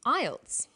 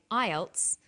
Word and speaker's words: IELTS: is called an acronym with an acronym we don't pronounce the individual letters we pronounce it as a word so we say IELTS not i e l